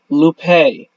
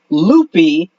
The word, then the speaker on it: Lupe: and uh yes yes it is Lupe not ly that's the mispronunciation iation that Sonic uses it's l it's it's